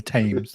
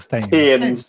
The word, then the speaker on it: Thames: How do you say the River Thames again? The Thames. The Thames.